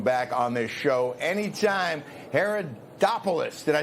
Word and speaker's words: Haridopolos: Haridopolos.